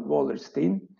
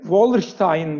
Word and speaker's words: Wallerstein: e uel wallerstein Emmanuel wallerstein Ben hep wallerstein derdim wallerstein da deniyor ama galiba yaygın olarak wallerstein deniyor sonunda Hani ben de e wallin telaffuzunu benimsedim Eee diyelim Evet şimdi wallerstein